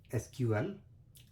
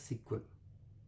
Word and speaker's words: SQL: database is called as SQL, Structured Query Language, or often pronounced as sequel.